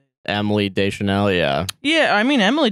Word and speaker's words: Deschanel: Emily Deschanel, yeah. Yeah, I mean Emily Deschanel, I'd never seen her in anything previous, but I also was 8 years old, so yeah, you know.